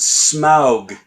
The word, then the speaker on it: Smaug: it's pronounced Smaug.